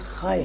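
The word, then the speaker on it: Χ: پھر کچھ لوگ اس کو غلط طریقے سے ایکسمس کہتے ہیں, جبکہ یہ جو ایکس نما حرف ہے یہ انگریزی کا نہیں ہے. صحیح. یہ یونانی زبان کا لفظ خائے ہے. خائے.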